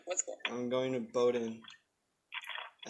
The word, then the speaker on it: Bowdoin: maine but like what's cool i'm going to bowdoin i said it right this time a lot